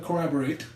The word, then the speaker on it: corroborate: In our class that we took in college, Brian can corroborate. I use it correctly. Collaborate. Corroborate, not collaborate.